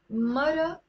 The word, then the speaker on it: مرة: Like in standard Arabic, we pronounce it مرأة, مرأة. But in the Lebanese dialect, that's silent. Sometimes people maybe even just write it like that, مرة.